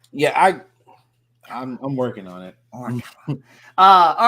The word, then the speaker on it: Morikawa: Morikawa or all the other There is an mispronunciations A that I on do, the end of it, not an I. So Morikawa. that's a little different. Yeah, I'm working on it. Morikawa.